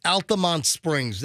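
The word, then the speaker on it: Altamonte Springs: I'm telling you, it's Altamont Springs. I've never heard Altamonte.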